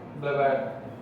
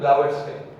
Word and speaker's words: Blavatsky: ಬ್ಲವಾಡ್ Blavad. The pronunciation was like Blavatsky. ಬ್ಲವಾಟ್ಸ್ಕೈ Spelling like this only. Pronounce whatever the way you want.